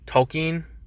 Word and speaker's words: Tolkien: Tolkien is apparently how you actually pronounce it, which is not how anyone I've